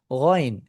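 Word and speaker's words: غين: গাইন গাইনের সাউন্ডটাও আমাদের বাংলা ভাষার কোন বর্ণের সাথে মিল নেই।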